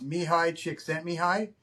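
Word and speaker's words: Mihaly Csikszentmihalyi: His name's it's it's a Czechoslovakian name, but it's pronounced mihi chick sent me mihi and he was at University of Chicago at the time.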